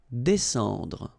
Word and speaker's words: descendre: Well, even if you've got this combination of S and C here, you just pronounce it S. Descendre.